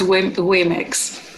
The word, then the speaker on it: womyx: And I just want to go back to the womyx, because I didn't even know how to pronounce that. So can you tell me that again? Sorry. It's womyx.